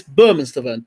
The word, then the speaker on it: Bermane Stiverne: Let me get the pronunciation right now after all these years. BERMANE STIVERNE. It's BERMANE STIVERNE.